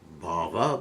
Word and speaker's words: bhava: So both sadhana bhakti and prema bhakti have some bhava in them. What do we say? Bhava. You have to be careful to pronounce the word properly, not bhav.